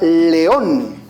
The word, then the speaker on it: león: Son 2 golpes de voz. León. Y observa que la mayor fuerza de voz recae sobre la vocal O.